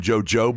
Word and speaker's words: jojoba: Did you buy some jojoba oil? Yeah, it's pronounced jojoba.